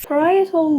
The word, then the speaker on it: parietal: I don't know if I am pronouncing it right. Let's check. Parietal. Yes, parietal lobe.